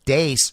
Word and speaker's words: Deace: roly-poly little dork Steve Deace. I'm told his name is Deace, by the way. I have a very astute listener who corrected my pronunciation on that. It's not Steve Deace, it's Steve Deace, apparently.